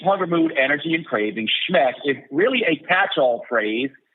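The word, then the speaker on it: SHMEC: I I call it schmeck s h NEC it's an acronym pronounced schmeck it stands for Sleep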